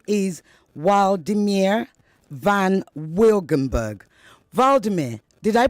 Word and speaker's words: Wladimir: His name is Wladimir van Wilgenburg. Vladimir, did I pronounce that correctly? Yeah, you pronounced it correctly. Oh, wow. Is the W a V sound or a W sound? It's a W sound.